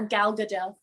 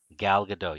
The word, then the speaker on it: Gal Gadot: um how do you say her name uh gal gadot gal gadot yes i always i'm a master of screwing